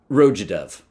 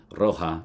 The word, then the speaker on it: Roja: it is, I'm assuming, a way to make sure that we pronounce Roger with an English accent, because that would be, I think, Roja, not Roja, Roja.